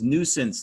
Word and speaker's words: nuisance: Nuisance, nonsense. The red is the stressed syllable, two-syllable words, both of them. And nuisance, remember, has that French U-I vowel pair, but you don't hear it.